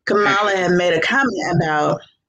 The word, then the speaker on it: Kamala: were saying you know kamla had made a comment about kamala i'm sorry i said it wrong kamala had made a comment